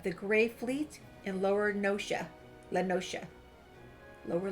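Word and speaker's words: La Noscea: The man you are looking for is believed to be a resident of the Grey Fleet in Lower Lenosha. Lower Lenosha.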